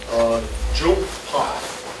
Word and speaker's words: Djilpmh: Today, I'm going to go by a pseudonym, Djilpmh, D-J-I-L-P-M-H. The D is silent, but we'll talk about